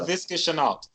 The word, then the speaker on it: Laviska Shenault: Laviska Shenault.